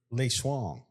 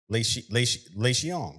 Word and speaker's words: Lei Xiang: Lei Shuang. Lei Shuang? That's Leixiang. Oh, not Shuang. It's Lei. Not Shuang. Like Lei Swing. Kind of, but it rhymes with thong. So Lei Xiang. Lei Xiong.